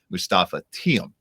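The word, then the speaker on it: Moustapha Thiam: So we love that out of them, and we can officially note Mustafa Thiem is how you pronounce it, because I was screwing it up and so was Neil.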